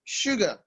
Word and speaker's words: sugar: You have sugar, just an ordinary s, and it produces the sound sh, sugar.